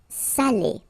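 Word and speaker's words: salé: that case here okay you put the accent and it's quite important because in that case it means salted okay Sally okay say Sally Say delici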